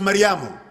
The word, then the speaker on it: Maryam: Maryam is usually pronounced Maryamu.